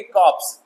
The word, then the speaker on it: corps: एक और इसी से मिलता जुलता वर्ड है, ये देखिए CORPS, ये हम कहेंगे, इसे हम कहेंगे कॉप्स, लेकिन ये लाश होता है ना, कॉर्प्स, CORPS, कॉप्स, लाश, जबकि ये कॉर है, ये फर्क है।